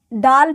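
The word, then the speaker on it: دال: है यह तो तो डाल पे छोटा तो डाल देते हैं तो यह दाल पे छोटा तो तो डाल हो जाता है इसका हिंदी उच्चारण ड होता है ड इसे डाल पढ़ते हैं यह जाल है जाल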